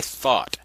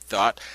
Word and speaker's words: Thoth: This was created or conjured up by Thoth.